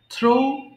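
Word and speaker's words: through: আচ্ছা, এরপর থ্রো নিক্ষেপ করা, থ্রো, থ্রু, থ্রোন। দেখেন এখানে একটা ভুল করে ফেলি আমরা, এটা কিন্তু থ্রিউ হবে না, এটা থ্রু হবে।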